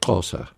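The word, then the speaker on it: Xhosa: say the closer people their name is spell x h osa but the way it's pronounced is more like crosser pete where have all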